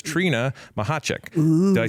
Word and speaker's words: Machacek: It's Trina Machacek. Ooh. Did I say it right? Yes, you did. Machacek.